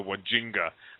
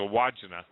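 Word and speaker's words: Wandjina: or something I used to call him the wajinga but it's a wajina and the almost identical parallel are in Utah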